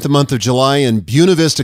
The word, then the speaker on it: Buena Vista: month of July in Buena Vista Colorado and yes that's how they say it out west but I thought I'd